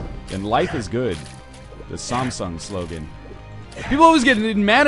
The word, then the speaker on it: Samsung: um they say well you pronounce Samsung it's Samsung I freaking lived in South Korea where Samsung is like one of the biggest companies I said Samsung and they're like no no no Samsung so I'm pronouncing it like the locals and I gotta admit